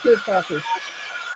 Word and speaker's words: Kuretake: I'd like the Art Nouveau set of these curious, how do you pronounce it? Kuretake, that's it, Kuretake.